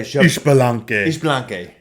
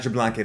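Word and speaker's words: Xbalanque: Yeah, Ishbalanque. Yeah. That's a not Jablanque like they say in Smite.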